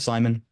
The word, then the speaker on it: SimonX: X is silent, so we just call it Simon.